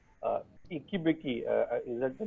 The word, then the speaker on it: Ekibeki: Ikibiki, is that the name I'm pronouncing? Uh, Eki also, Beki.